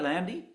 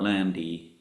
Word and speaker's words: Lande: Art Lande. Yeah, Landy.